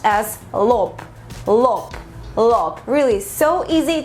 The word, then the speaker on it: лоб: This word is super easy in Russian and it's pronounced as lop, lop, lop.